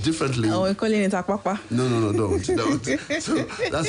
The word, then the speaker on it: Apapa: I'll try and pronounce it the way he pronounced for me. So I have Comrade Alhaji Bashiru Lamidi Apapa. That is Todomi Apapa.